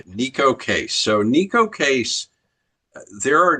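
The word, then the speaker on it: Neko Case: So, this is Neco Casease. Is that how you say it? This is Nico. Nico. Okay. Nico Casease.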